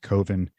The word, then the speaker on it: Coven: Mark Borchardt is the guy who created and directed this movie called Coven, which is spelled Coven, but he says it's pronounced Coven.